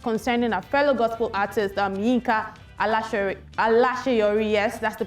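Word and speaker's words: Yinka Alaseyori: She made a remark concerning a fellow gospel artist, Yinka Alasheyori, yes, that's the pronunciation, of a song titled Onuduromi, in a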